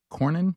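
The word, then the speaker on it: Cornyn: John Cornin.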